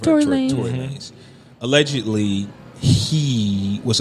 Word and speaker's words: Tory Lanez: Tory Lanez. Right? Tory Lanez.